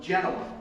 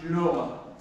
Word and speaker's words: Genova: Ernesto came over from Genova I know around here we like to pronounce it Genoa but uh but but back in the old country it's Genova and so Ernesto